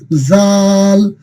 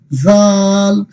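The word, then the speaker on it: ذال: 3টা বর্ণের উচ্চারণের স্থান কিন্তু একই জায়গা, অর্থাৎ জিহ্বার আগা উপরের দাঁতের কোথায় লাগবে? আগার সাথে লাগবে। আমরা সা যেভাবে উচ্চারণ করছি ঠিক এইভাবে আমরা কি বলবো? জাল, জাল, জাল, জাল, জাল, মাশাআল্লাহ।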